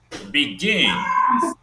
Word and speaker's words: begin: Begin, begin, also stressed on the second syllable.